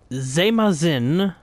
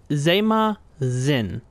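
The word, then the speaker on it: Zeymahzin: Today's Dovo Word of the Day is Zemazin Companion. I'm pretty sure I have that pronounced correctly. Yeah, from how I'm looking at it, it's Zemazin, meaning companions, and it is spelled Z-E-Y-M-A-H-Z-I-N. Zemazin Companions.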